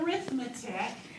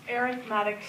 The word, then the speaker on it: arithmetic: different kinds of sequences one is arithmetic not arithmetic it's pronounced arithmetic sequence and with an arithmetic